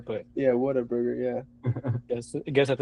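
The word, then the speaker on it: Whataburger: It's I mean, it's pronounced water burger, but Yeah, water burger.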